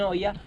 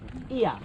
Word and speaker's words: Oia: Everybody will understand, so you can keep saying oh yeah. Not to me, in general, you can say oh yeah. But Ia is the Greek pronounce, so it's easier, it's faster, so why not? Ia, not over there.